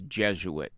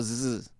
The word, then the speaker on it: Jesuit: Correct me if I never know how to pronounce Jesuit. Sometimes I want to go zh, and sometimes I want to go zzz. Okay, it's Jesuit. It's not the Z.